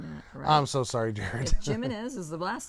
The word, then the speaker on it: Jimenez: I'm so sorry Jared Jimenez is the last name that's not human is what human is it's a h that J is pronounced like a h are you sure oh